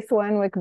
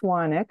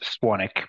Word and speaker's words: Swanwick: I've podcasted with James Swanwick, and we say Swanwick, but it's actually pronounced Swanick, right, Tristan? It is pronounced Swanick, but yeah. We'll accept Swanwick as well.